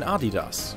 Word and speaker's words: Adidas: même avec Puma et Adidas, qui étaient, à l'époque, extrêmement populaires en Amérique. Et au fait, c’est bien comme ça que vous prononcez Adidas.